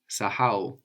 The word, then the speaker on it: Kusahau: So in French, I guess you have a silent H or a very weak H, and that's coming across a lot in Swahili. So you want to be careful to pronounce it, to actually pronounce it.